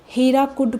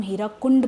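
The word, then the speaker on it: Hirakud: Actually में बहुत पहले लोकली ओरिजिनली इसका नाम हीराकुंड प्रोजेक्ट है। लेकिन इंग्लिश में ऑफिशियली स्पेलिंग्स में बनाने के लिए इसका नाम हो गया है हीराकुड प्रोजेक्ट।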